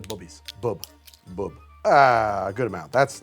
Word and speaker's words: Bubby's: And actually, I'm pronouncing that wrong, by the way. If you ever see that, it says Bubby's, it's actually Bubby's.